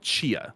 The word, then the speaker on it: Tchia: So I'm gonna potentially butcher the name and assume that it's a silent T at the beginning, but I want to say it was called Chia.